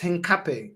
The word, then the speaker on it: Hincapie: It's pronounced Hincapie.